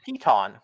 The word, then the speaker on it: piton: So, fun fact, it is pronounced piton.